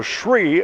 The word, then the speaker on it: Shree: So Shree is the right pronunciation.